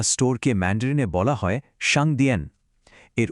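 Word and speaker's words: 商店: কোন সাধারণ দোকান বা স্টোরকে ম্যান্ডেনে বলা হয় সাংদিয়ে এর উচ্চারণটা হলো সাং দিয়ে প্রতিদিনের কেনাকাটার জন্য এই শব্দটা কিন্তু বারবার কাজে লাগতে পারে।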